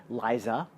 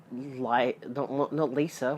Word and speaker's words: Liza: Liza Minnelli. Not Lisa, which apparently people would call her Lisa.